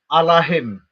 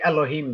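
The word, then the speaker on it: אלהים: It's written with the letter A there. If anybody knows Hebrew, it's not written with the letter E. So it actually says Allahim. Allahim. It does not say Elohim there.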